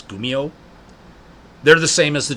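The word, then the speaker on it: kumiho: it's just it's k-u-m-i-h-o but that K is pronounced as a g so it's gumio they're the same as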